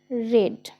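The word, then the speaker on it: read: হলো এ book is রেড বাই মি এটার উচ্চারণ ভিথ্রি তে কিন্তু রেড রিড নয় সেম আরেকটা দেখো সেম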